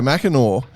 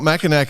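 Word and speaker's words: Mackinac: I got to pronounce one of your waste wins because I've had so many emails about my misprononunciation. So won the uh Chicago Mackeno in 2023. Uh it's not Macak apparently, boys.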